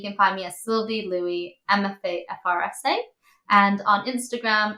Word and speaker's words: Lui: your last name right I think I call it Lou is Louie yeah Louie you have a Goodness